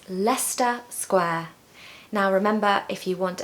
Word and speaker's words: Leicester Square: you today let's get started number one is Leicester Square Leicester Square Leicester Square everyone knows where Leicester Square is it's very touristy busy but can everyone pronounce Leicester Square I hear people saying La sesta Leicester but no it's Leicester Square now remember